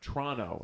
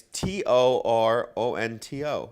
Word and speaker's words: Toronto: Yeah, the production company they're based out of Trono, and they kept calling it like Disney, that Disney movie Tron.